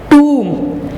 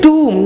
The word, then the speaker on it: tomb: In Sindh are the tombs of two great saints, Shah Abdul Latif and Qalandar Lal Shehbaz. Class, here note down the pronunciation of tomb. It is tomb, not tomb.